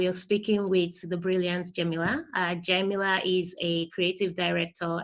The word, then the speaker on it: Jemila: Jemila.